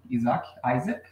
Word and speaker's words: Isaac: Então, nós temos aqui, it's under my name, está no meu nome, Isaac, pronunciado em inglês.